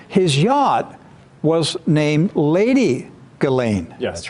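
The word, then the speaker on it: Ghislaine: is lady gasan galain I got to say it the way it is uh to be fair most is saying gizan G when I listen to her interview she says her name is galain galain so there is Lady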